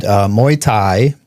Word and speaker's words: Muay Thai: And Muay Thai, which a lot of people can't pronounce, like the drink, is, they call it, what is it?